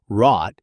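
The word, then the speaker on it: wrought: Rot is pronounced with the vowel oden or a eyes if you're a cotcaugh merger speaker. rhyming with caught despite a spelling that gives you almost no clue of that.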